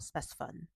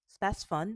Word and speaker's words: Spasfon: But the main medication that I want to talk about today is called Spasfon. Spasfon, which is spelled s p a s f o n.